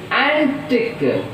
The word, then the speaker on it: antique: Now see, antique, antique, an is a prefix, tick. So here see, stress is on T, antique.